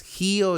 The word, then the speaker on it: Hio: Gio, G o G. No, me gusta G, pero se pronuncia, bueno, se escribe Gio, ¿no?